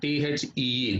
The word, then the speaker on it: the: If the word THE comes before a word which begins with a vowel sound, we have to pronounce it like the. For example, the elephant, the eagle, like that. And similarly, if we wanted to give emphasis on a word which begins with a consonant sound, there also we have to pronounce the word THE as THEE, the.